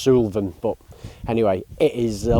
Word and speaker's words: Suilven: bit funny to pronounce it's not Sullivan it's just Sylvan but anyway it is